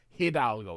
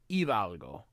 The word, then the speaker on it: Hidalgo: Their names are Hidalgo and Juan. By the way, in Spanish, the H is silent, so it's not Hidalgo, it's Hidalgo.